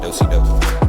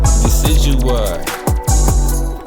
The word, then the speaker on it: Decidueye: The first time I seen his name, I said Dosi Dosi. Decidueye.